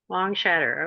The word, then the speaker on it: Longshadr: founder and director of long shatter how do you pronounce that you did it just right long shatter okay sounds like s h a t t r i don't know chattering